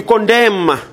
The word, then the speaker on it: condemn: You condemn. What is silent? Condemn. N is silent.